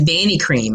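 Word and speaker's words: Vanicream: my next go-to is vani cream i don't know if you've ever heard of that um but it's spelled with a v like victor and it's called banny cream i love love love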